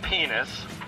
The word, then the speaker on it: Pinesse: First of all, it's pronounced penis.